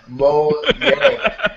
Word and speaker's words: Mojang: Mojang guys bless you Mo mo mo yangang mo yang that's what Phil Spencer said it's Mo Yang